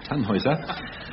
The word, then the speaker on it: Tannhäuser: I'm assured it's pronounced Tannhäuser.